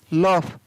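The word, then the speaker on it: laugh: LAUGS, लॉफ, तो यहाँ पर भी GS से क्या बन रहा है, फ।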